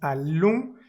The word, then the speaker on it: allons: Dans ce cas, nous allons. Tenemos la vocal nasal ON. La vamos a marcar en azul. Es por eso que decimos allons y no decimos allon. No pronunciamos esa N nunca.